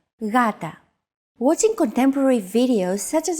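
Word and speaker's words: γάτα: word Gata meaning cat this is usually romanized with an initial G letter but it is not pronounced Gata the first consonant is softer ugata watching contemporary videos such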